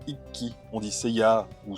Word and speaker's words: Ikki: En effet, on dit Iki et pas Ikki.